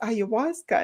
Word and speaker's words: ayahuasca: And she said that it was ayahuasca, and this is how you need to pronounce it, because all I saw, I had a spelling of it.